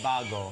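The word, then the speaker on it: vago: Bago, which actually is spelled with a V, not a B. It's Bago.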